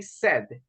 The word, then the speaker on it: said: Just remember pronunciation, we say said. In past, Said.